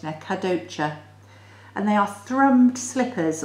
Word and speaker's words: Kadocha: You can see I've written the phonetic pronunciation there. Kadocha.